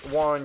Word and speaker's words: Warren: the roach roach Warren I always mispronounce it and say Warden instead of Warren but it is roach Warren um the roaches did